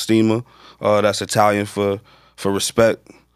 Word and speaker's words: Stima: the name of the product for respect not stemmers you got to pronounce your steamer i did lengthy research on it because i thought it was stemmer at first but now i got corrected it's steamer it's pronounced steamer that's italian for for respect